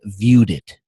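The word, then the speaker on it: ViewedIt: free one it's called viewed it view it's spelled like view edit so v iew ebit but it's actually viewed it like he viewed it or she viewed it and it's in it's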